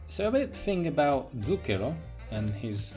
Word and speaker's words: zucchero: Just to be like, put that thing here, every single R in the names is rolled. I cannot roll R's, but you should roll R's to the pronunciation correct. So mind that when I'm talking. I'm using the correct pronunciation, but R's are rolled.